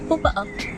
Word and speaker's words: popa'a: envie de vous donner le mot papa'a, qui signifie épaule cramée, et qui va du coup désigner les étrangers, les personnes à la peau blanche, que maintenant on va prononcer popa'a.